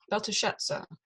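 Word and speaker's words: Belteshazzar: Beltashetza. Mm-hmm. Yeah. Okay, so we've. Ultimate. Sorry. The stress is ultimate. Okay. Beltashetza. It goes up Right. on the end.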